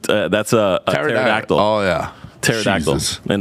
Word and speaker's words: pterodactyl: a pterodactyl oh yeah pterodactyl and the p is silent and pterodactyl always throws